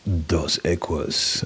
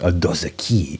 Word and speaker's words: Dos Equis: Don't always drink beer, but when I do, it's dos equos, dos equi. Okay, all right. Thank you for the pronunciation as well.